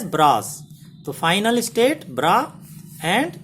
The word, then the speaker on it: bra: And the final state, this is represented like this, and it is pronounced as bras.